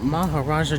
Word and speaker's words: Maharajah: end of this thank you for visiting the Mahar Raja jungle truck that's how it's properly pronounced okay when you're done you cut it